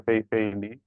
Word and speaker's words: Fei-Fei Li: It's the first job, even I'm failing to even finish it very well, just pronouncing the name. So yeah, it's Dr. Fei-Fei Lee.